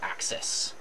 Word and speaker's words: axis: So we call these axes, which is spelled exactly like axes, but pronounced axes. And individually, you just replace the e with the I, right? So axis. Usually we call them these